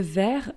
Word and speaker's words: vert: Le vert, V-E-R-T, is green. For instance, a green t-shirt, un t-shirt vert, but it's with a T at the end, we just don't pronounce it.